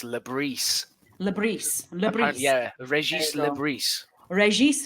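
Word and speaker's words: Le Bris: And then finally, is it Lebris or Lebris? How do we pronounce it? So I thought it was Lebris, but apparently it's Lebris.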